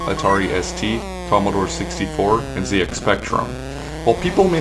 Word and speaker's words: ZX Spectrum: a former british guy i know it's pronounced zx spectrum instead of zx spectrum but what if it